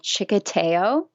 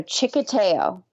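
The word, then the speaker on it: txikiteo: what I thought but it actually starts with a TXI so in chicko it's spelled TXI k i t e o so chicko got it that's um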